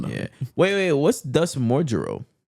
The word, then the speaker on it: modulo: Wait, what's Thus Mojuro? Mojulo, it's just the katakana way of saying modulo. Mojulo, or say modulo. Yeah, they're saying modulo, but with like the Japanese It's pronunciation.